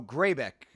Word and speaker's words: Grzebyk: Kick for Oh, Greybeck is how you pronounce his name.